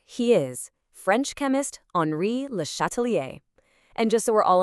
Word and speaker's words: Le Châtelier: And here he is, French chemist Henri Lhatalier. And just so we're all on the same page, it's pronounced Lhatalier.